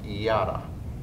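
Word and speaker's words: ידה: In the Hebrew language, there's a word that's pronounced yada. It's actually spelled Y-A-D-A-H.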